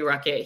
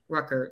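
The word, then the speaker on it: Ruckert: so and they have this young guy jeremy ruckett he um rucker sorry i said it wrong there we go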